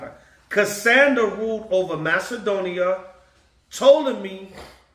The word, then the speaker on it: Ptolemy: Ptolemy, the P is silent, ruled in Egypt and southern Syria, including Palestine.